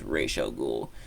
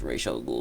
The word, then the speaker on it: Ra's al Ghul: I've never been 100% sure how you pronounce it. I believe it is Ra's al Ghul. I think Batman does pronounce it as Ra's al Ghul, so that's what I'm going to go with for now.